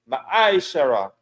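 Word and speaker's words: מעשר: Means tenth in Hebrew and is pronounced ma'aishara.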